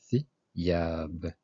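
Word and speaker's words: ثياب: Thiab, Thiab, des vêtements. Donc, thi, c'est comme le think en anglais, on a dit. Et une voyelle brève, kasra, qui donne i. Donc, thiyab.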